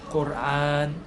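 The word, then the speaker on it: قرآن: 이것도 사실 영어권 발음에서 온 거예요. 영어에서 이제 뭐 코란, 쿠란 이렇게 하는데요. 사실 아랍어로는 꼬르안이에요. 꼬르안.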